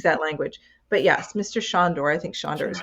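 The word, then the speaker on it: Sándor: Juilliard and the legendary George Sandor. Am I pronouncing I mean, I think it's Shandor.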